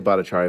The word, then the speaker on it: Bhattacharya: Bacharia, thank you so much for Or how do you say it? Say it for me. I say Bacharia, but my cousins think I don't know how to pronounce it, Senator.